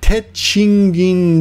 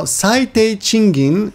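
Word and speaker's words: 低賃金: Now Teichingin would be minimum wage. Teichingin. Kin, of course, is money, but when it's pronounced in this jukugo, when you pair it up with this other kanji, it becomes gin.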